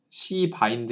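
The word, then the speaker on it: cbind: C 바드라 하는 어 이거 발음 주의하시고요 C 바인드 있니다 C 바인드 너무 이렇게 빨리 발음을 하시면 좀 처음이 이상하게 들릴 수가 있어요 C 바인드가 되고이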